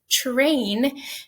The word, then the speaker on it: train: call affrication okay so when i pronounce it it says train and the first phoneme my mouth produces is really ch okay so this affrication